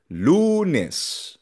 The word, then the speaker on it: lunes: Lunes nagtatapos sa s. So nasa lo or second to the last syllable ang diin.